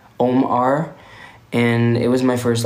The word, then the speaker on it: OMR: And you can still pronounce and say OMR.